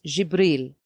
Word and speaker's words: Jibril: In Arabic, you pronounce it as Jibril.